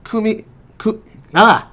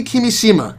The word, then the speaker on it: Kimishima: I get all the details and especially the pronunciations correctly really that announced new personnel changes in the company specifically tatsumi kumi cook nah nah i knew i was gonna get it wrong in tatsumi kimishima ariga the general manager of corporate analysis and